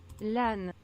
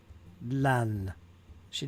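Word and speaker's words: Lannes: Lan. Lan. She didn't even do the S. So there's no S sound there. It's lan. I've always said lans. So maybe it's no S. The S is silent.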